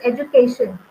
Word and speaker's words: education: On the penultimate syllable, we are showing the primary stress, which is education.